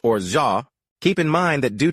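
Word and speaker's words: orgeat: O R G E A T is pronounced orha.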